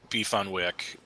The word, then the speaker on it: beef on weck: thing but in Buffalo beef on Wick it's pronounced beef on Wick what the Weck is is the kimmelwick roll